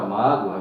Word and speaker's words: mágoa: Nessa palavra mágoa, veja que o O aí, ele não é uma vogal, ele fica como uma semivogal, porque o A aqui